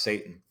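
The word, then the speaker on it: Seyton: y t o n but it's pronounced Satan it's here that we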